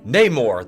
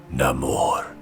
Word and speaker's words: Namor: That's not how I'm supposed to say it, remember? How the hell am I supposed to say it? Namor. Call me Namor. What? No, you're pronouncing it wrong. Namor's from Atlantis because now he's Aztec or Maya.